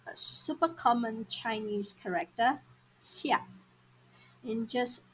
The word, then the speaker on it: 下: Alright, let's take a quick look at this character, xia. This character is pronounced as xia, fourth tone, and the basic meaning is down or below.